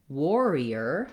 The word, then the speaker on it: warrior: the er sound then when we get to the word warrior now we finally have the or diphthong that or sound spelled with letters ar so can't count